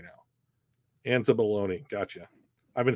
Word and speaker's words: Anzalone: Anzalone. Gotcha. I've been saying it wrong this whole time. Anzalone.